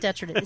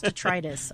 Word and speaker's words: detritus: everything you pronounce it no it's not detritated it's detritus oh my God detritus you're